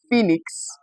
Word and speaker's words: phoenix: We find it in words that have letters o e with popular examples being a word like phoenix, a word or a name like phoi. Okay, let's add another example here in something we call fetus. Okay, these letters produce the long e sound.